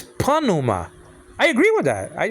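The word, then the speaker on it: pneuma: deal so so panuma it's not Numa like Dr Bron used to say it's Puna I agree with that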